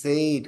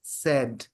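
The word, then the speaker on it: said: এস এ আই ডি আমরা তো বই দেইখা পড়ি এস এ আই ডি সেইড কত সহজ কত মজা মিলা যায় একেবারে এস এ আই সেইড but actual pronunciation is সেড সেইড read red read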